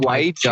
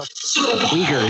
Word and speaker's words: Uyghurs: The way they walk is so I think it's pronounced white jeer. God. I think isn't Japan or China having problems with white jeer right now? Is that what they are? Uyghurs.